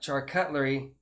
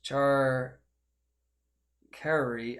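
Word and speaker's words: charcuterie: hoods made char cutlery but it's not char cutlery it's char kerry i don't know it's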